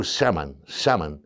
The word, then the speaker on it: shaman: Le mot chaman, c'est un mot emprunté au langage Tungus. Tungus, il prononce ce mot shaman.